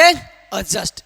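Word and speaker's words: adjust: क्या पढ़ेंगे? एडजस्ट। डी को नहीं पढ़ेंगे।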